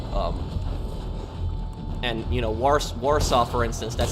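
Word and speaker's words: Warszawa: and you know wars warsaw for instance that's how the english speakers see it because there's w that's the capital of poland which is really called varshava it's pronounced with v is it hard for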